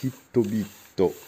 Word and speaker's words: HiTBiT: Et en japonais, ça se prononce Hitobito.